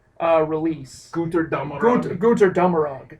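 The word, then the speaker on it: Götterdämmerung: this time, is the Gutter Dummerug release. Guter Dummerug. Guter Dummerug. You got to kind of break the German out for that one.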